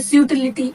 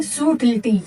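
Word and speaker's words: subtle: words की dedication को इसमें हम बी साइलेंट रखेंगे इसको कैसे प्रोनाउंस करेंगे हम इस वर्ड को हम ऐसे प्रोनाउंस करेंगे कैसे सूट ये क्या कहलाएगा सूट कि मतलब उसमें क्या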